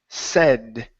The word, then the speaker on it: said: Right here we have the word said instead of said. Okay, take off the A sound. It's going to be a short E. Said.